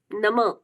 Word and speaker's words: नमः: नमः समस्त भूतानां, नमः समस्त, नम, म के बाद में जो दो छोटे छोटे बिंदु है, ये है विसर्ग। विसर्ग के लिए कंस में ब्रैकेट में कुछ दिया गया है, ये है आधा स, तो ये विसर्ग का उच्चारण स मानकर पढ़ना चाहिए। नमः, म के साथ में स जुड़ गया।